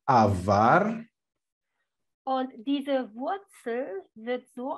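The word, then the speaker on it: עבר: And the pronunciation is avar.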